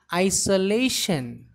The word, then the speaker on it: isolation: Here the stress is given on very first syllable and on last syllable.